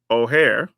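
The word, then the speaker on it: Ojer: another one of these as our pronunciation guide has taught us is oare uh but oare Klim deepest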